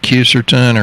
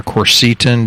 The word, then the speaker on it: quercetin: It's got quercetin or quercetin, depending on how you want to pronounce it.